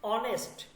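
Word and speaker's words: honest: লেখার মধ্যে আসবে যেমন অনেস্ট অনেস্ট যখন আমরা লেখি ইংলিশে প্রথমে আমাদের কি লিখতে হয় এ লিখতে হয় তাই না কিন্তু দেখেন এটা কিন্তু উচ্চারণ হয় না লেখাতে আসে কিন্তু উচ্চারণ হয় না যেমন নো যদি আমরা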